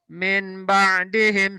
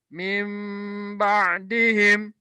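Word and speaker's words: مِنْ بَعْدِهِمْ: dihimbau disertai dengan ilmu Maka salah kalau bacanya Min ba'dihim salah ya Atau memang ba'dihim salah yang betul adalah lu nya diganti dengan nun sukun nya diganti dengan mimbadi him i Hai Kullu nafsin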